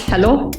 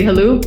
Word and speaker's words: Helou: Everyone pronounces it differently. It's Helou, but if it's easier for you to say Helou, just go for that.